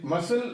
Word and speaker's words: muscle: In muscle, we have to find out the silent letter. Again, in this word, we have C silent, that is again consonant.